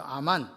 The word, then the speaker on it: 아멘: 아멘이 나옵니다 아멘 맞죠 아멘 아멘은 원래 히브리어로 아만이에요 아만 헬라 발음을 하니까 아멘이 됐습니다 아멘이란 말은요 무슨 뜻이냐